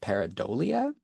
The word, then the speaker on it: pareidolia: One common example you might have seen circulating around the internet is this phenomenon of, I think it's pronounced pareidolia, where you see faces in everyday objects.